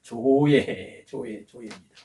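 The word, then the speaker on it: ζωή: 여기 조회할 때에 여기 중간에 오메가입니다. 오메가인데 이것이 발음상으로 음가가 오입니다. 오모음인데 장모음이에요. 그러니까 이렇게 조회 한번 계신 곳을 따라하세요. 조회입니다.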